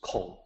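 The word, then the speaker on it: 孔: So the pronunciation is Kong.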